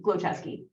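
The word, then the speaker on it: Glowchesky: right no no um I usually tell people three common words right glow like glows in the dark chess the game ski right like ski glow chesky yeah so I think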